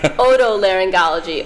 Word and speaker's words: otolaryngology: Otolaryngology. Oto means like ear.